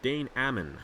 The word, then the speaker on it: Dane Ammon: race for Dane Ammon I've been saying his name wrong too and um Al Legacy the two winners in their respective classes congratulations to them once again on those winds at Riverside but danne Ammon that's how you're supposed to say it